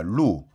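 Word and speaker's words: 鹿: 뭐 설사 발음이 좀 틀리긴 하지만 왜냐하면 녹은 이제 사슴 녹자는 루입니다. 루.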